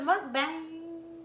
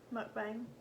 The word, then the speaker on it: Mukbang: With the mukbang. Yep. Mukbang. How'd you say it? Mukbang.